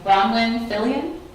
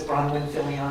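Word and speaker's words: Bronwyn Fillion: thank you thank you Ronn fillian thank you you're one of the first persons who have pronounced it correctly on the first try my name is bronwin Fillion I live at 63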